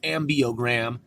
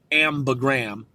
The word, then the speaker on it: ambigram: incorporated an ambigram, and I used to call it the ambiogram, but it's pronounced ambigram, where it reads one direction and then it reads the same the other direction.